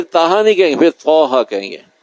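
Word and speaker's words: طٰهٰ: پھر طٰہٰ کہیں گے۔ تو طٰ علیحدہ ہے، تا علیحدہ ہے۔ تا ہے الف اور با اور تا، اور طٰ یا طٰ اور ظا، یہ عربی کے پروننسیشن ہے، تلفظ ہیں۔ عربی کا تقاضا یہ ہے کبھی تلفظ صحیح ہو، تو یہ جب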